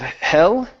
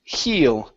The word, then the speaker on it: heal: good this word here instead of Hell okay the word is pronounced heal heal you heal you okay